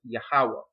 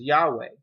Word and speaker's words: Yahweh: In Hebrew, this name is pronounced as Yahweh. In Yiddish, it's pronounced as Yahweh.